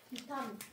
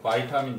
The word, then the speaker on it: 바이타민: 비타민. 맞아. 바이타민 있습니다. 우리 2015년 개정 교육과정부터 바이타민 정식 명칭이래. 왜요? 그래서 바이타민으로 하고 있어요. 읽는 방식이 너무 달라서 미국식으로 읽어요. 그래서 바이타민이라고 발음하라고 했습니다.